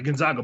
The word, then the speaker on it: Gonzaga: they uh i said it right yeah the gonzaga bulldogs when they were in the march madness